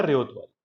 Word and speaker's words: रैयतवारी: चलिए, तो सबसे इंपॉर्टेंट इनका एडमिनिस्ट्रेटिव और रेवेन्यू कलेक्शन का अचीवमेंट था that रैयतवारी system, रैयतवारी system है रेयतवारी, वैसे रैयतवारी इसका प्रोनाउंसिएशन होता है।